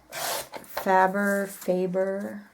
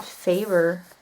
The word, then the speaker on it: Faber-Castell: I also got my Faber, I guess we would pronounce it Faber with the way the English language is, because that would be a long A.